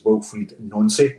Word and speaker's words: Wilfried Nancy: I think the actual pronunciation is Wilfried Nancy. I think that is the pronunciation, but I believe it can be a little bit flexible with it, according to AI anyway.